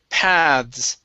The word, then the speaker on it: paths: Okay, make sure to pronounce the S here at the very end. Paths. Path. Okay, now this is going to be the voice TH. Paths. Paths. Paths. Okay, with an S at the end.